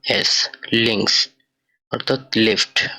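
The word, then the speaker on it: links: পরবর্তী ওয়ার্ডটা এল দিয়ে, এখানে লেখা লিঙ্কস অর্থাৎ বাম বা লেফট। তো এটার উচ্চারণ হবে এল ই এন কা এস, লিঙ্কস অর্থাৎ লেফট বা বাম।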